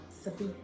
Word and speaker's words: ceviche: Ceviche.